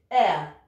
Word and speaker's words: heir: Le H doit se prononcer, mais il y a quelques mots en anglais dans lesquels on ne les prononce pas. Voici certains mots. Donc il y a ceux-là et leurs dérivés. Hein. Hour, donc, qui veut dire heure. Heir, qui veut dire héritier.